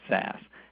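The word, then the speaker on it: SaaS: z so it's baz if it's software as a service it's almost always pronounced SAS and I have no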